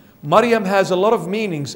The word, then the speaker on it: Maryam: divine inheritance so Martha is earthly inheritance Mary Maryam is the proper translation or the proper pronunciation I should say Maryam Maryam has a lot of meanings in that name